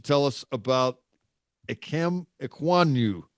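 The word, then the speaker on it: Ekwonu: about a chem equaniu i don't know if i'm pronouncing that right we'll try to figure this out as the draft process uh yeah amazingly enough you don't you don't hear a lot of offensive lineman mentioned on the broadcast right yeah but no you're right equanu you said it right i mean he boy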